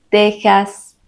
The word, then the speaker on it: Texas: no siguen esta regla Ya que se pronuncian con el sonido de la J son México Texas Oaxaca recuerdas que los españoles